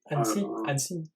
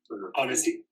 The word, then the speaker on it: Annecy: Annecy. Annecy.